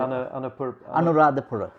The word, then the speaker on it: Anuradhapura: Now I'm not going to be able to pronounce this. Tell me, what is it? Anuradhapura.